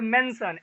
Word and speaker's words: mention: and says, और कहते हैं, हु विल रिमेम्बर, अब कौन याद करेगा, एंड मेंशन, रिमेम्बर मीन्स याद करना, और मेंशन MENTION, टी साइलेंट है, तो मेंशन, यानी मेंशन मीन्स होता